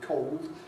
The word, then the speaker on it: cold: So rather than cold, although I say cold myself, I'm recognising cold as a very widespread possibility.